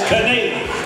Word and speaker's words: Kanaly: It rhymes with shillelagh. It's Kanaly.